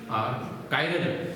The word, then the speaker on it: chiral: Exact उसका जो pronunciation होता है उसको कायरल कहा जाता है। क्या कहते हैं, कायरल। कुछ लोग चिराग भी यूज करते हैं, है ना, चिराग, CHIRAL। तो एग्जैक्ट क्या होता है, कायरल बोलेंगे उसको, क्या बोलेंगे, कायरल, ठीक है।